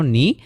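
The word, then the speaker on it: knee: তাহলে আমরা দেখতে পেলাম যে কোনো একটা ওয়ার্ডের শুরুতে যদি খে তারপরে এন থাকে, তাহলে ফার্স্ট খেটা হচ্ছে উচ্চারণ করা হয় না, আর এন থেকে উচ্চারণ শুরু হয়। যেমন হচ্ছে কি নলেজ নি নাইট, নলেজ মানে হচ্ছে জ্ঞান,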